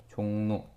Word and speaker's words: 종로: 음, 이응 뒤에 리을 왔어. 종로. 그랬을 때 어떻게 발음나? 종로 이렇게 됩니다.